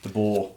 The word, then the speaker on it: DeBoer: Pendlebury talked about who DeBoer from DeBoer, how do you pronounce his name? DeBoer.